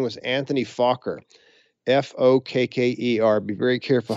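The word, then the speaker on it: Fokker: was actually Dutch and his name was Anthony faulker f-o-k-k-e-r be very careful how you pronounce that folks he invented an interrupter gear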